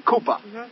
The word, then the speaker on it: Koopa: I'll take your name Koopa first syllable coup that's the thinking the bird the second syllable is Pur that's what cats do so I think of